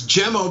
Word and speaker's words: Cemo: It's Cemo because he's Turkish. The C is pronounced like a J.